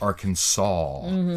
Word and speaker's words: Arkansas: SAS and then there's another state that it's Kansas but with a are in front of it but it's not pronounced AR Arkansas yeah it's pronounced Arkansas organ song like aw instead of as but the weird the